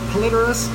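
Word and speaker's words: Polypterus: So that is our Platinum Senegal Bashir, or Plecos senegalis, and that second P is silent.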